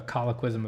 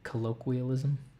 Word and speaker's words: colloquialism: it is the the colloquism of choice right now but that's definitely not how you pronounce it right it's like colloquialism it's definitely one of